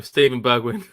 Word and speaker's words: Steven Bergwijn: Steven Bergwijn.